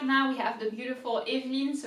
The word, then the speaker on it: Evelyne: So the first E has an accent on it. I know that it's not apparent when it's in English, and also because most likely it's got a capital letter, but there is an accent that indicates that you have to pronounce E, Eveline, Eveline, Eveline.